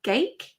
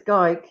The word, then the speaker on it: Gayk: teachers said it is gay with k on the end pronounce like dyke and you'll get it